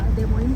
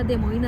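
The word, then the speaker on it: Des Moines: देमोईन असं पडलेलं आहे डी एस एम ओ आय एन इ एस असं याचं स्पेलिंग आहे त्यामुळे ते वाचताना कन्फ्युजन होऊ शकतं त्यासाठी मी तर आधीच गुगल वर उच्चार चेक केला की काय याचा उच्चार आहे तर याचा फ्रेंच भाषेत देमोईन असाच उच्चार आहे खूप ऐतिहासिक परंपरा असलेलं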